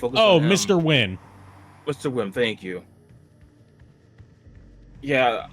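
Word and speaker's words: Nguyen: Hyun! And then Mr. Win's like, it's Win!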